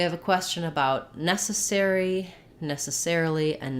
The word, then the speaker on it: necessarily: uh necessary and then for necessarily necessarily the stress changes to the air syllable so there we have